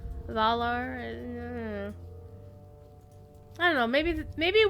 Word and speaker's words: Valar: valar shine upon the volar okay the voice that always always irritates me just a little bit the the voice actor not pronouncing valor correctly it's valor valar i don't know maybe